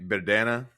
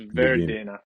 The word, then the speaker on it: Verdena: So obviously, I'm going to butcher the name Verdana. Verdena. So Verdena. Verdena. So it's Verdena.